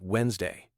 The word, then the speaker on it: Wednesday: people off oh good one Wednesday is actually pronounced Wednesday English spelling doesn't always match pronunciation which can